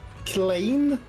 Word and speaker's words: Klein: Alright, and also, did I pronounce that right earlier? Klein?